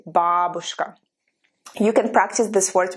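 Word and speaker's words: бабушка: sound like in babushka please memorize the stress correctly not babushka it's important to memorize the stress right if you learn it wrong then your mind will always wonder which way you need to pronounce the stress so i know for some reason people say in america at least people say babushka but matryoshka yes but babushka we say babushka you can practice this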